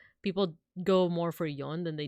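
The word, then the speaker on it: 五: so sometimes like people go more for yon than they do with she um five is always pronounced as go uh six is usually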